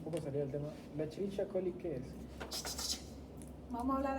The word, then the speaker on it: Escherichia coli: Desde ahora ustedes todos que vean CH que parece Escherichia, latín antiguo, Escherichia coli. Esa es la forma correcta para pronunciar.